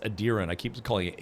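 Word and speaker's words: Aedyran: Adiran. It's It's pronounced Adiran. I keep calling it Adrien.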